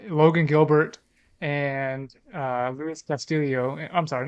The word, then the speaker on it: Castillo: from yesilio you know there's no IO at the end yes you can never it's Castillo you want to know